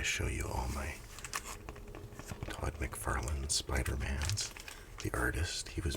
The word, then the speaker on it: McFarlane: you all my Todd McFarlane Spider-Mans. The artist, he was my favorite at the time. I always called him Todd McFarlane, like Lynn. You can read it. Signature. It's Lane. McFarlane. Is it the whole world